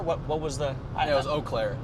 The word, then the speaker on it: Eau Claire: It was Eau Claire. Eau Claire.